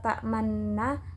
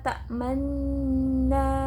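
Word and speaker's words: تأمنا: Bukan la ta'manna, tapi harus memponcongkan mulut. La ta'manna.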